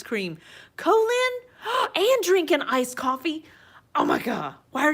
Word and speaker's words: Ko-fi: through uh it is ko-fi I know some people say Kofi but I'm going tell you it is pronounced coffee we are we are fixing this it is pronounced coffee we're changing the world